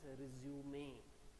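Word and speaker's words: résumé: generally on that one there is one bar given on this e and it is to be pronounced as resume okay so the first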